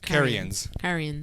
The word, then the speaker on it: Carians: Carians.